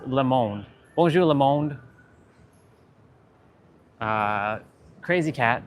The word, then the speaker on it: le monde: Hello world, bonjour les monde. It's not les, it's le monde.